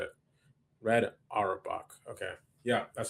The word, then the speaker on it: Red Auerbach: Red Auerbach. Okay. Yeah, that's how you pronounce it.